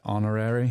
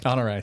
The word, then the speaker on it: Honoré: of Valgren, I had Honorary. Is that how you say it? Honoré, sorry. Yeah.